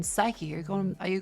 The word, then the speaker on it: psyche: People don't pronounce the P in psyche. How are you saying psyche? Are you going Are you going psyche?